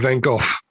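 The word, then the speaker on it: Van Gogh: Although I noticed you've um slightly adjusted your pronunciation of Van Go since the uh since the last recording. I know. I think I I put too much of it on F at the end. Van Go.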